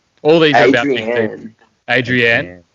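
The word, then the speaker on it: Adrianne: these are about people adrienne and not adrian i think so and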